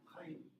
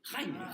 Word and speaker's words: Jaime: Chaim. Non, ça s'écrit J-A-I-M-E. Jaime. En espagnol, Jaime.